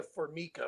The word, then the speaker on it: Formica: look up Mariah Mariah formica which is spelled like formica f-o-r-m-i-c-a if you look her